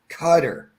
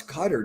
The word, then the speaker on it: Qatar: I think if we were pronouncing that correctly, it would be Qatar. Yeah, it kind of annoys me when people say Cutter. I mean, okay, maybe that's how you pronounce it, but it just seems like that's just not right, But yeah, bro, Eric,